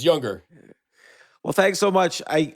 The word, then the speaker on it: Junger: say it younger Jer how do you say it younger J NR but it's younger well thanks so much